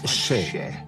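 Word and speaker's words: še: Le mot orge en sumérien se prononce ché. Donc un sumérien voit cela et dit « Ah, ché !» Bonjour, on est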